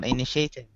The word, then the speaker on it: initiative: okay and also teacher initiative initiative initiative initiative stress is here yeah yeah yeah initiative